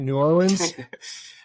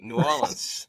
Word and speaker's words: New Orleans: New Orleans. I'm so proud of you, man. You said it right. New Orleans.